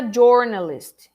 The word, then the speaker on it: journalist: to the correct way do you say journalist or journalist he's a journalist he's a journalist or jor or jor or do you say jer journalist is the correct form okay so don't